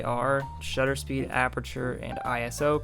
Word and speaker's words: ISO: shutter speed aperture and ISO pronounce like an acronym because it is an acronym is not ISO even though some people